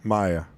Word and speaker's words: Maya: No, is that Maya or Mia? You know, pop in chat and let me know if I pronounced that right. I think it was like Maya Horkstra. Yeah. So, okay. It's Maya. Maya. Got it. I mean, with the eyes first.